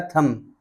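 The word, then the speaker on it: thumb: डम डम माने गूंगा टी एच यू एम बी थंब थंब नहीं पढ़ा जाएगा यह पढ़ा जाएगा थंब थंब माने अंगूठा टी ओ एम बी टॉम टॉम नहीं पढ़ा जाएगा।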